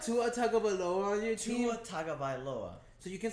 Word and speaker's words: Tua Tagovailoa: Even though DJ Ugalele, or however the hell you pronounce it. Don't you have Tua Tagovailoa on your team? Tua Tagovailoa.